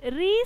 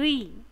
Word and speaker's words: ऋ: Next slide में देखो, री से ऋषि। यह पहला अक्षर क्या है? री। आपको उच्चारण स्पष्ट से करना चाहिए, री। ये तो नॉट रू, यह है री।